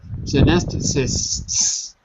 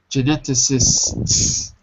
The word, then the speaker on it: geneticist: say it for me four syllables okay you're still dropping the s a little bit so just say it like this that's it gentic geneticist you have to practice